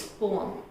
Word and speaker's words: poem: So this is not poem, it's poem, poem, poem.